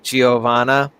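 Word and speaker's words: Giovanna: which is so Joo giovana it's you know it's it's an Italian name but obviously it's spelled GI IO for both of them it's almost like it's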